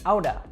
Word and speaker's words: out of: out of i said outta now this is how most americans will pronounce this that t sound in the middle actually warps to kind of a d sound now this is very